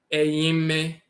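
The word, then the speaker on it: eime: So in the Coptic dialect, instead of you'll see it's spelled in Coptic here, E-I-M-E. Aime, Aime.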